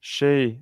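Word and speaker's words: Hsieh: How do you pronounce her name? Shea, like the Taiwanese doubles player.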